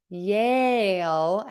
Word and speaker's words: Yale: that's a subtle difference Yale does not sound like yell Yale has that long a and your mouth moves yell has the short e and your mouth does not move I'm not sure I